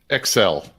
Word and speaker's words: EcSell: He's the CEO and president, or CEO of EcSell. Did I pronounce that right, Bill? EcSell.